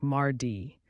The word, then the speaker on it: mardi: next comes Tuesday or Mari in French it's pronounced like Mardi think of it as a day to March